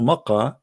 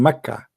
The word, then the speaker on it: Makkah: a paw I mean so Makkah became Mecca you know I mean it's exactly the same one same letter so but it's just a way to pronounce it so Makkah it's not